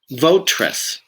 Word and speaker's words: votaress: Votress. Again, now it's just 2 syllables.